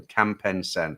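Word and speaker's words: Kamphaeng Saen: Okay, that's how you say it then. Kampen Sen.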